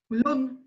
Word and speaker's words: Lun: ¿Cómo se pronuncia? Lund.